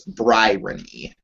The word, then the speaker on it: Bryony: Okay, think about the word irony, except instead of irony, it's Bryony.